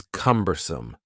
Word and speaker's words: cumbersome: The next word is cumbersome. The word cumbersome has three syllables and the stress is on the first syllable.